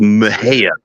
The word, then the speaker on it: Mexia: towns here in Texas a town called Mejia it's spelled like Mexia m-e-x-i-a she was from one